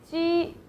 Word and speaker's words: jī: Like the Jeep, the car, Jeep. It's like the J in Jeep. So, but you don't have to curve your tongue.